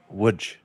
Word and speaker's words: Łódź: ice club in Poland, which is located in Łódź, Poland. Which if you just look at the spelling, it says l o d z. It is pronounced Łódź.